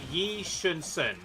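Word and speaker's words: 이순신: Okay, it's Yi Shun-sun. That's how you pronounce it.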